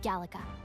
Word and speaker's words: Gallica: If you're gonna call me anything, call me Gallica. Gallica. Okay, jetzt weiß ich, wie das ausgesprochen wird.